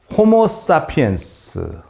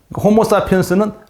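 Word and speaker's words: Homo sapiens: 호모사피엔스는 라틴어이기 때문에 라틴어는 이 영어와 발음이 달라서 그냥 스페링 그대로 읽으면 되는 거예요.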